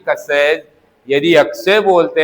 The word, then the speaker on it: क्ष: मैं फिर से कहना चाह रहा हूं, इस क और स से मिलने के कारण इसका उच्चारण होना चाहिए कस।